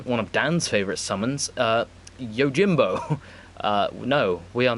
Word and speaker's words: Yojimbo: no it's not very it's not meant to be pronounced Jimbo but is yo Jimbo like that's how it's spelt everyone says yo Jimbo I think there's got a very specific pronunciation for it but yeah he's strong